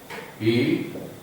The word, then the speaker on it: he: Kemudian yang ketiga ya, 1, 2, 3, hi ya, hi ini bacanya ya, hi bukan he, jangan baca he.